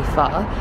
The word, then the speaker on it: pho: But there's also other pho places that are called like Jenny Pho. And people pronounce it Jenny Pho. It's actually pho, so it's Jenny Pho.